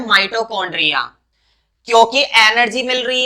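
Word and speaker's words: mitochondria: कुछ लोग इसको माइटोचोंड्रिया पढ़ते हैं, तो वो गलत है। चोंड्रिया नहीं बोलेंगे, खाने का उल्टी सीधी बात करते हो। तो माइटोकॉन्ड्रिया हम इसको बोलते हैं, और माइटोकॉन्ड्रिया ही सही प्रोनाउंसिएशन इसकी होती है।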